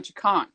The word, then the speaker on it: Chukan: So all you got to think is Chaka Khan, remove the extra ka, Chaka Khan, Chakan. See? Okay. Chakan. Same pronunciation.